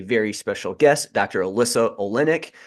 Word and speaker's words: Olenick: Alyssa Olenick. I was going to say Olnick, but luckily I asked her beforehand how to pronounce that, so we got it right there on that.